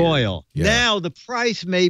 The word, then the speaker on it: Royole: ROYOLE. Royal is spelled weird. Royal.